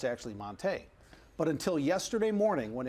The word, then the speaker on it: Montee: I know what is this all about well Monta is the correct pronunciation of his name strangely enough and we're